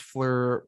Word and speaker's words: FLIR: Oh, it's a fleur. It's a Fleur. fleur. Is Yeah. that what you're supposed to say? Yeah, it's fleur.